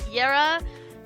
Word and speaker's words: Yara: I was using Yara right that's how you pronounce it yera um because I was you know using using